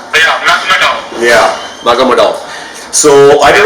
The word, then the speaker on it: Magomedov: So I'm not sure who got there first, Dariush or Magomedev, but I keep pronouncing his name wrong. Magomedov. Yeah, Magomedov.